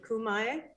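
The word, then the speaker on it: khöömii: question for you uh tamir how do you pronounce the mongolian word for throat singing is it kumai yeah homie thank you so much we'd love to have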